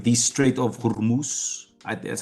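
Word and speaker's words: Hormuz: It's a strategic location like Greenland, like Venezuela, like the straight of Hurmus. That's how you pronounce it.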